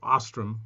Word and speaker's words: Ostrom: Well, my favorite bass player here in Las Vegas, his name is Dave Ostrom, Ostrem, but he pronounces the O with an umlaut, so it's Ostrom, I guess.